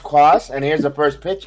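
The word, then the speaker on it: Cuas: Well, they're going to get rid of Jose Cos. It's pronounced Quas, and here's the first pitch in there for a strike.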